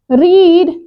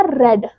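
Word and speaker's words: read: और पढ़ने की आएगी रीड, लेकिन कौन सी फॉर्म लेनी है? थर्ड। स्पेलिंग ठीक है, जैसी फर्स्ट फॉर्म की होती है ऐसी थर्ड फॉर्म की है, लेकिन पढ़ा जाएगा रेड, डन, रेड।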